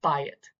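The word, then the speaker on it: בית: And when that's the case, like the beit letter is actually pronounced like a real B. So this would be bayit.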